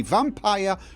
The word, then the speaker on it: Vampyr: I say vampire rhymes with tire, pyre, hire, not vampire rhymes with deer, peer, or over here, okay?